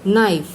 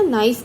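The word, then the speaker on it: knife: अब हम इसको क्या पढ़ते हैं, नाइफ। का नाइफ तो नहीं पढ़ते ना, नाइफ पढ़ते हैं। तो इसमें क्या साइलेंट है, के।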